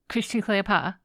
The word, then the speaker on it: Christian Kalea: Kalea because I had to change up the pronunciation of his name today. That's okay. Let me try that again. Christian Kalea.